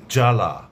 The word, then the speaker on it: জ্বালা: যদি শব্দের বা পদের প্রথম ব্যঞ্জন বর্ণের সঙ্গে বফলা যুক্ত থাকে তাহলে পরে সে বফলার কোনো উচ্চারণ হবে না, তবে বফলা যুক্ত বর্ণটির উচ্চারণে সামান্য শ্বাসাঘাত পড়বে।